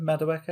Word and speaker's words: Madueke: Madueke?